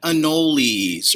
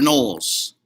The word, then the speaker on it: anoles: Alice and these are green anoles or knowles i've heard it pronounced both ways so again that's what